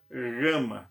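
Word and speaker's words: gamma: Ok Vita a Gama o som Gama é um som gutural ele começa de bem leve mas é cultural grama grama é obviamente ele não é tão no na conversa de área um pouco mais suave mas você tem a palavra por exemplo gata gata gato é esse só nunca o som de girafa gelo então o nosso jeito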